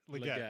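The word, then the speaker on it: Legette: Is it Ligeti, from the receiver? Leggett, Thank yeah.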